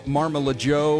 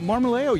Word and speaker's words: Marmolejo: 'Cause I figured it would have been Marmalajo or something, but Marmolejo, you nailed it.